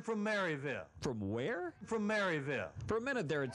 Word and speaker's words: Maryville: did it in his hometown of Maryville or Merville or well just watch they are from Washington I am from Maryville from where from Maryville for a minute there